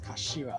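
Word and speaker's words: 頭: It's written as the head, but it's pronounced as Kashira, I believe.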